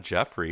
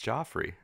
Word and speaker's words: Joffrey: pronounce it wrong right call him Jeff that's not his name is it's not Jeffrey its Joffrey its G it just bailed like Jeffrey with a G it's spelled like Joffrey G its Gio e